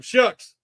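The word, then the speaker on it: Shough: You might see, some of these guys, Tyler Shucks out of Louisville. I think he's pronounced as Shucks.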